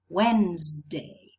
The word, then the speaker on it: Wednesday: Wednesday, Wednesday. W, E, N, Z, D, and A. 6 sounds.